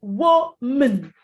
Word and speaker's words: woman: Well, the rule in English is this. When you have M-A-N in a word as a second syllable, and you're not stressing it, it's not the main focus when you're pronouncing the word, you don't go man, you go mun, mun. So it's woman, woman.